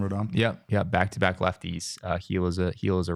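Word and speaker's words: Gil: starting starting pitcher tonight his last name is pronounced heel heel heel heel he just a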